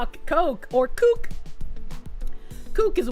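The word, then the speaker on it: Koch: I I always pronounce co k o c h but I think it's supposed to be the coke brothers but like [ __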